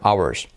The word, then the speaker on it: hours: En este caso la H no se pronuncia, hours.